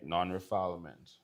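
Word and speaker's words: non-refoulement: It's spelled nonrefallment because that's not how you pronounce it. All right. Non-refilement.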